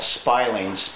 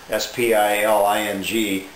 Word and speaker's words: spiling: That was one of my viewers that sent in a comment there that is called spiling pronounced like spy. S p i l i n g spiling stick which is what this is.